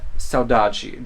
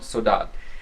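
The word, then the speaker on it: Saudade: way is actually called Saji though most Portuguese people would yell at me for pronouncing it the Brazilian way because they would say no it's called sodat now that is a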